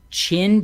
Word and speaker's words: Qin: c romans no d chin dynasty you're supposed to pronounce that q with a cha okay okay so i